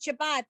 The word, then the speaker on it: Shabbat: somebody say Good Shabbos, because the word Shabbat, we pronounce it Shabbat, but the last letter of that word is this tough without the dot, and that would be the S sound, Shabbos.